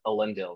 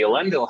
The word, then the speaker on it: Elendil: You know, we can talk about pronunciation of that. I'm going to go with Elendil because, you know, my friend who's really deep into Sindarin says it's put that syllable there.